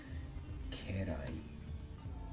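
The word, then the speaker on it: 家来: Ke is kind of an awkward pronunciation. Usually it's ka for this kanji. At least in the words we've learned so far.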